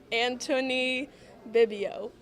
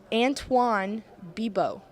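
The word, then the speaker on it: Antoine Bibeau: Anthony Bibio. That was close. This is close. Antoine Bibo.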